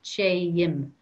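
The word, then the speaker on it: téim: Che and May becomes Che-im, Che-im. So it's like the command Che, and now we're adding im with an M.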